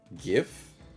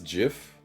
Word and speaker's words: GIF: do you say pronounce gif do you pronounce it Jiff or gif I like saying GIF with the G the hard G and I know there's